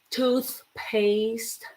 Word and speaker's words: toothpaste: These are two hard words for us um to learn because you have to put your tongue between your teeth. So you say toothpaste, toothbrush.